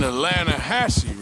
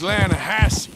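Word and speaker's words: Lannahechee: steelhead trout you maiden Elana Hasse no no no but the latter edge it runs right near here yeah but it's pronounced Lana Hass why is everything in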